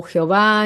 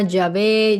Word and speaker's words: YHWH: Recordemos que ese tetragramaton lo pronuncian como Jehová, Yahvé, Yahú, en fin, tiene varias pronunciaciones según las vocales donde donde las ponen los eruditos que se han encargado de la pronunciación de este nombre.